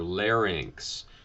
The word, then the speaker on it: larynx: Same thing with larynx, L-A-R, not L-A-N. Okay, so it's L-A-R, larynx.